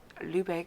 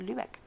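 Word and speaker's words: Lübeck: need to go to lubeck um not sure if you pronounce lubik in english lubric i'm just doing the german way and you can always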